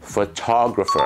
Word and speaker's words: photographer: ลิง ถือ ลูก ท้อ photographer นั่น เอง ครับ คำ นี้ จะ ออก เสียง ว่า เฟอะ ไม่ ใช่ โฟ นะ สระ เออะ นะ ครับ ตัว โอ เป็น สระ